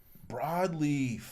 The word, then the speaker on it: Broadleaf: Broadleaf. I told you he said board the first time.